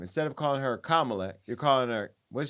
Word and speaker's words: Kamala: out of her name instead of calling her Kamala you're calling her what is she calling her Kamala Kamala so you're refusing to acknowledge how she's told